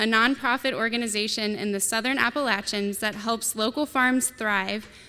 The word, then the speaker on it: Appalachian: This panelist coached me on the right way to say Appalachian, not Appalachian, which I'm very thankful for.